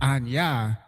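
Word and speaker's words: אני: And it's just like, well, I know Anya I is pronounced Anya.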